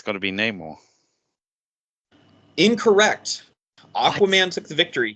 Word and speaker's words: Namor: It's pronounced Namor.